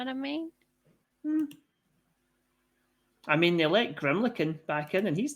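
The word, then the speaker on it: Grimalkin: m yep a l k i n it's pronounced grimlin grimlin okay there you go yeah it's based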